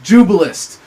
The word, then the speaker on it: Jubilist: And Wayne is also a self-described, I guess, is this the correct pronunciation, Wayne? Jubilist? Yes. Jubilist, who believes that real revolution is monetary reform based on the Jubilee and eliminating usury.